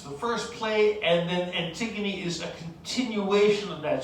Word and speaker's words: Antigone: student i saw her name and i i pronounced it in my head as anti-god which admittedly it doesn't look like that but no it's pronounced antigone uh here's a very brief um description of